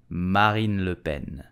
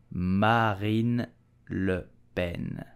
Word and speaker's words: Marine Le Pen: far-right party in France so how do we pronounce her name correctly we will say Marin Lupen Marin Lupen Marine Le Pen Marine Le Ben did you know that the